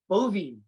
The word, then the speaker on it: Boivin: all of us today donnie bovee is with us got it right yo because because it's spelled we being dude i grew